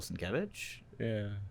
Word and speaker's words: Sienkiewicz: Bill Sienkiewicz? Yeah. That's how you pronounce it. I was watching a New Mutants Roundtable on Comic-Con, and he came on, and Sienkiewicz. Sienkiewicz?